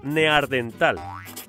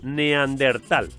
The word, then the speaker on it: neandertal: más su nombre recordad no es neardental ni neandertal es neandertal la palabra proviene de